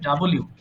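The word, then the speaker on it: W: ডাবল ইউ ডাব্লিউ এসেছে সো এটা ডাব্লিউ হবে না এটার সঠিক উচ্চারণ হবে ডাবল ইউ ডাবল ইউ আমি তো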